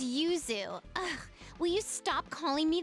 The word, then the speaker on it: Yuzu: Don't call me Yoohoo. Okay, so I I presume this was an absolutely horrific butchered localization of Yuzu Chan, right? My name is Yuzu.